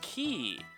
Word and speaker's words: Quay: I assume, based on the pronunciation game, that it's not pronounced Quay. But there we go. Maybe it's QA? I don't know. It's Q-U-A-Y is the pronunciation, is the spelling. It's Key.